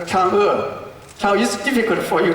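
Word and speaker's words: 嫦娥: But today I want to ask you to pronounce the Chang'e correctly, because it's too difficult to say like the word letter like Chang'e. Most of people like that. But it's Chang'e. I put the words there. You can pronounce that. Chang'e is correct.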